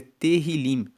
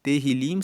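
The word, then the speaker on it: Tehilim: Inclusive no hebraico, o nome do livro de Salmos é terrilim, que significa louvores. Terrilim se escreve T E H I L I M e Terrilim quer dizer louvores.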